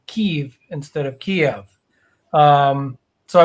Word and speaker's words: Kyiv: Yeah, so the Ukrainian pronunciation was Y, Kyiv, and then the Russian is Kiev, was IE.